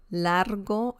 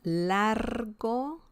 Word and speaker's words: largo: one is Largo yeah Largo Largo remember the r sound in Spanish it's like you're purring oh by the way